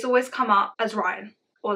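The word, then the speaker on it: Raihn: i h n okay a lot of people would pronounce that as rain I pronounce it as Ryan because in my brain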